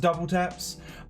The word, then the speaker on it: WTAPS: getting well supreme is collaborating with japanese brand double taps spelt wtap s it's pronounced double taps this brand was founded in 1996 two years